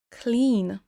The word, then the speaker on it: clean: Propre, clean. Là, vous entendez peut-être que je traîne sur la syllabe du milieu. Le I, c'est un i long.